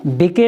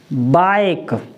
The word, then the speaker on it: bike: और ई तो मैंने आपको पहले भी बताया है, ई हमेशा अगर किसी भी शब्द में लास्ट में ई आता है वो साइलेंट रहता है, उसका कोई उच्चारण नहीं होता। BIKE, इसको क्या पढ़ेंगे? बिके नहीं पढ़ेंगे, इसको क्या पढ़ेंगे?